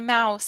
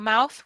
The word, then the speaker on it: mouth: No, I'm saying you said I open up my mouse. A mouse is an animal. A mouth with the TH is this.